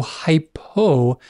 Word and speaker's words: hypo: basically the opposite so hypo remember below so below rhymes with hypo and then hyper think